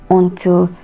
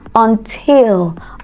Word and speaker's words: until: n t i l that word is not on until instead it is until until until you have a word